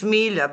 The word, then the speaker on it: Milja: It's Milja, but it's fine. I'm used to mispronunciations.